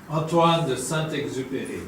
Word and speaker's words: Antoine de Saint-Exupéry: Antoine de Saint-Exupéry.